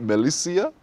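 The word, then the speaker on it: Malisia: as in militia.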